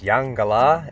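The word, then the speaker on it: Eungella: up the range to the town of yungay la which is pronounced young gala and means land of the clouds in the aboriginal language beautiful spot and we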